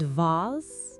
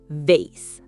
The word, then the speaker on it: vase: And vase? In America, vase, like base. In Britain, vase or vase.